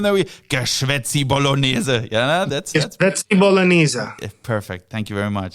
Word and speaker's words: Geschwätzi Bolognese: How do we pronounce it? It's It's Geschwätzi Bolognese. Geschwätzi Bolognese.